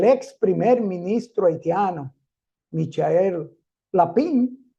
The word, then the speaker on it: Lapin: Primer Ministro haitiano Michael lapin o la Punk como se pronuncia en francés de estas mafias que